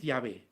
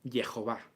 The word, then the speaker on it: Jehová: Y ahora alguno dirá, no, la pronunciación es Yahvé. No, la pronunciación es Jehová.